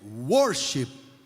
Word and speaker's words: worship: e pegou né porque Worship em inglês a palavra certa é a pronúncia é Worship tá em inglês significa